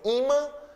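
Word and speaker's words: ímã: Então, eu tenho aí imã e ofan. Palavras paroxítonas terminadas em an são acentuadas. Imã, sílaba tônica é o i, ofan, a sílaba tônica é or.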